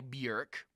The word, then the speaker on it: Björk: So my second one, though, my bonus one is I have to give it out to the album Debut by Björk. Rhymes with jerk, Björk, or Bjork.